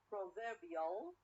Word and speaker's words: proverbial: add ill okay ill proverbial proverbial i change the stress or the stress is changed from the first syllable to the second syllable okay so again we